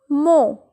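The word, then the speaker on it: mot: Mo. Mo. Here we will not pronounce the last consonant. So it's mo.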